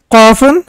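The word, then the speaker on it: قاف: So this is, look at the difference here. This is Qa and this is Ka. Qafun and Kafun.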